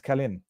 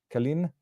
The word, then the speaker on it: Călin: khen georgescu I to double check the um pronunciation of the name it's khen khen and not kin but the Americanized version is kin and I hope I